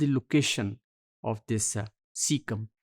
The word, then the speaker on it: caecum: Well इस module में we will be discussing सीका या ये असल में ये एक सिंगुलर होगा दैट इज सीकम और इसके स्पेलिंग है CAECUM और प्लूरल में जिसे हम सीकी कहेंगे CAECE।